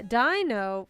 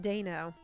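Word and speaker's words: Deino: it that's okay no you put dino yeah dino was originally how is how i said it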